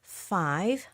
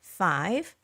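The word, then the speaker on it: five: Along with 5, this word has both F and V sound. 5, 5.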